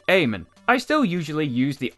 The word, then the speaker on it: Eamon: I've pronounced it Eamon, but I was told it's actually Eamon.